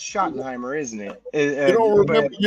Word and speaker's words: Schottenheimer: Brian scotten Heimer what you got his name wrong Schottenheimer scotten Heimer whatever the they call his ass I I swear I heard somebody call him scotten Heimer but I guess it's Schottenheimer isn't it you don't